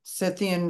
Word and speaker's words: Scythian: Scythian, as far as I know, that's how it's pronounced.